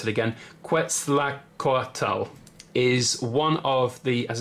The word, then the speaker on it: Quetzalcóatl: and this was basically this dragon I'm gonna pronounce it again Quetzalcoatl is one of the as I said the